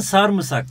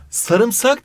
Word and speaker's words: sarımsak: sene iyi bir yarışmalar sarımsak mı Sarmısak mı sarımsak diye okunur sarmısak diye yazılır Buna dikkat Bu yoğurdu sarımsaklasak